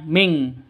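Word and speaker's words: منكم: Minkum wamin asfala minkum. minkum nun mati bertemu dengan kaf. Cara bacanya samar didengungkan siap-siap ke huruf kafnya. Non matinya ditambah dengan ng makanya bacanya ming ya dengung ming ming seperti itu ya.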